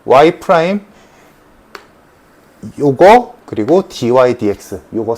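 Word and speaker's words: dy/dx: 읽는 법 dy dx라고 읽어. dx dy라고 안 읽는다. dydx라고 읽고 그럼 요거식이랑 똑같은 거야.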